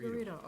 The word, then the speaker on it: Figueredo: Figurito. Figueredo, okay, thank you.